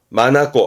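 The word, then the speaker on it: 眼: 발음은 마나꼬 하면서 눈동자 내지는 그 눈동자를 의미하다 보니까 이게 판단력이라든가 간혹 어떤 시야라든가도 의미하기도 하고요.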